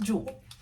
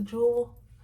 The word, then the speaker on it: Jewell: I think it's pronounced Jewel that's how it's spelled except with the second l so we're going to run with Jewel um so I first